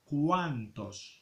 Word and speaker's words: cuántos: Y حاولوا تردوا البال la prononciación فاش كتكون لينا لا او ماس ا se pronuncia wa cuántos.